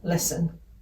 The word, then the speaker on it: listen: put the i in listen t is silent of course in listen this grim message although